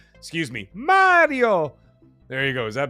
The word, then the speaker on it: Mario: So Quinn Taylor, come on, your Italian, pronounce Mario properly. Excuse me, Mario.